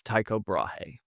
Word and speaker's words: Tycho Brahe: Uh this man's name pronounced in in my accent is Taiko Brahe. Uh in Danish I think it's a little bit different.